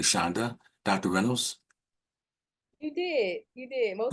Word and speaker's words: Shonda: Shonda Reynolds, I hope I'm pronouncing your first name correctly, Shonda. Dr. Reynolds? You did. Most wonderful. On the first try, I say Chandra, so I appreciate the no R in there.